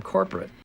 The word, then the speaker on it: corporate: schwa sounds in them there's also a schwa in the word corporate but that is how the word is always pronounced 100 of the time with the schwa and the unstressed syllable listen again damn this